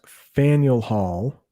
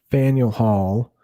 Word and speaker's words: Faneuil Hall: it held its first town meeting in that's pronounced faneuil hall faneuil hall in 1743 boston continued to grow and attract